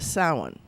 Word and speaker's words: Samhain: Samhain, but it's pronounced Samhain. Why? How do they get that? Well, it has to do with language, because it's not in English, it's In Gaelic.